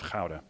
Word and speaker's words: Gouda: pipes that they're manufacturing in the town of powder which is how you pronounce it not Gouda by the cheese by the way go into